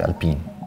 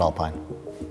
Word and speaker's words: Alpine: pronounce that name Alpine no it's Alpine not Alpine not Alpine Alpine we call it Alpine but we respect it if the British want to call it Alpine it's been 25 years